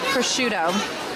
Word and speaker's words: prosciutto: Prosciutto.